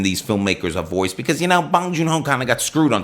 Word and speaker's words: Bong Joon-ho: And it's a new film from Bong Joon-ho. Which you are pronouncing correctly.